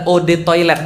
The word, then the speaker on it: eau de toilette: banget eau de toilette artinya adalah Ode toilet bacanya eo atau odd air toilet toilet Kenapa